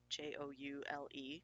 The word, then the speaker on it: joule: same the unit of energy is the Joule jou le joule pronounced Joule and the it can also be